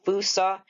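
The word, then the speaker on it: fossa: Y'all out there ever hear of a Fusa? Yeah, it's pronounced with an oo, by the way.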